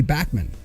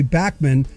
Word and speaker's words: Bachman: And of course, most people do say Randy Bachman, but the correct pronunciation, his name is Randy Bachman. Even in the new documentary Bachman, there are people in the documentary, there are